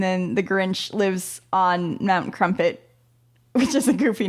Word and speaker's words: Mount Crumpet: That's why it has to be called Mount Crumpet. Oh, so it rhymes with dump it.